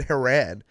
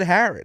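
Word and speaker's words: Haren: We were playing the dozen a couple weeks ago, and Smitty was like, and the answer to the question was Dan Haran. It's Dan Harron.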